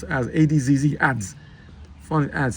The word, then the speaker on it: adz: wood and pronounced as adzz adds funny ads. Sound it out. It has one just one syllable starting with short a sound like in cat.